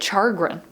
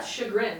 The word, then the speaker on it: chagrin: i think it's yeah i always say chargrin but i know i say it wrong because i'm adding an r yeah chagrin like i said chagrin